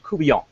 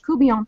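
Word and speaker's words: court-bouillon: We're going to teach you a little bit about Catfish Courtbouillon. Is how you say that. It's not Courtbouillon. That's actually a different recipe.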